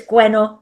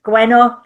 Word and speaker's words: Gwenno: Uh and uh but my name is Gueno. That's how we say it. Gueno.